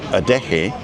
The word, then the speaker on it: Adeje: Does a J sound like a hard K? No. Funnily enough, a J sounds like an H, like in huge. So if you're saying huge, it's a ch, and a lot of people put a ch in it, but it's not. It's not. So it's the expellation of air. So adeje is adeje, huge. Adeje.